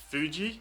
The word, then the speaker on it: Fuji: in fuji mount fuji because it has an f and it's very close to that f sound everyone just leaves it as foo and it's quite a strong sound in english in japanese it's it's a softer sound it's more of a it's like you make an f but then let the air go before you've closed it off so fujitan and that's